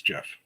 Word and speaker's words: GIF: No, I do say it as Jif.